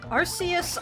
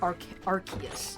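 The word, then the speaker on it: Arceus: Like, nobody's going to look at Arus's name and be like, "Ah, yes, that is supposed to be pronounced like Archus. If it was pronounced if it was if it was intended to be pronounced as Archus, they would have used a K instead of a C in its name.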